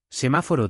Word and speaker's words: semáforo: Semáforo tiene acento en ma, semáforo.